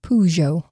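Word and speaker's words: Peugeot: Well, I looked up how to pronounce it and it said Pujo.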